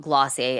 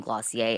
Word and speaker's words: Glossier: The word gloss had been mentioned as a potential offshoot, and Weiss liked the name Glossier as rhyming and riffing off of the word dossier.